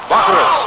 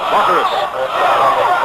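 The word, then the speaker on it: Bachouros: To beat Baccharis. I'll spell his name again for you. B-A-C-H-O-U-R-O-S. He's a junior from Chicago. Baccharis.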